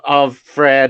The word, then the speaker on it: Offred: they were doing, because they don't pronounce them like that in the TV show. It's just Offred, and it's like, yeah, they put the syllable, the emphasis in the wrong syllable.